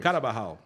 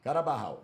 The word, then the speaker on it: Carabajal: Você tem que falar devagar, né? Senão É. você erra a pronúncia. Carabarral. Carabajal, emprestado pelo Santos sem custos.